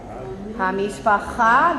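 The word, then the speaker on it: המשפחה: Hamishpacha, get your guttural on.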